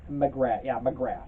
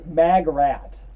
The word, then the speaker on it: Magrat: McGrath. It looks like Margaret, but her name is not Margaret. It's Magrat. Like, in fact, maybe Magrat is the way it's supposed to be pronounced.